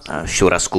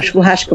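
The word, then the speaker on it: churrasco: A co třeba šurasku, myslím, že se to jmenuje, tomu se prý říká barbecue po brazilsku, co to je? Šuhášku, musíš povedať šuhášku, lebo to nesmieš vyslovať šuhášku.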